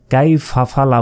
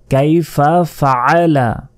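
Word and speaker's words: كيف فعل: আমরা অনেকে এই আইনের উচ্চারণ করি না, বলি যে কাই ফাফালা, ফাফালা হলে যে আইনের উচ্চারণ বাদ গেল। এখানে বলতে হবে কাইফা ফাআলা ফাআলা।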